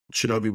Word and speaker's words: Shinobi: the playground and said is your name Shinobi and I was like it's Shinobi was a popular video game at the time